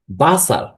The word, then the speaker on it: Wasser: মতই উচ্চারণ হবে যেমন এটাকে যদি আমরা বলি উচ্চারণ করি তাহলে বাসার বাসার অর্থ ওয়াটার বাসার অর্থ ওয়াটার আর এটি হচ্ছে এই অ্যালফাবেটের নেম হচ্ছে ভে এবং এটার উচ্চারণ হবে ভয়ের মত।